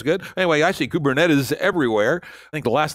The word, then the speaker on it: Kubernetes: hell you call it how do you pronounce that by the way I say kubernetes and I think it's it's a Greek word it means the steering of the steersman the rota system ok that sounds good